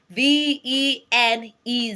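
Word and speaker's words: venez: so vadia is spelled v e n e z okay v e n e z vene there's a z there but not pronounced okay v v you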